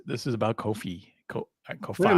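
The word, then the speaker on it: Ko-fi: Anyways, Kofi, I'm not saying it right, but it's Ko Fi.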